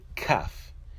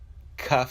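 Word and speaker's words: כ: numerical value of 20 the calf when it has a digression side is pronounced as a cur when a calf does not have a digression side it is pronounced as the calf also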